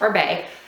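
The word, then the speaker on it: Oribe: orb o r i b e but it's pronounced orb that texturizing spray is amazing it gives a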